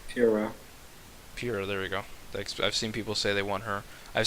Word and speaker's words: Pyra: How do you say her name again? Pura. There we go. Pura.